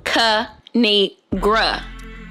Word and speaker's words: Kinigra: It's pronounced Kinigra.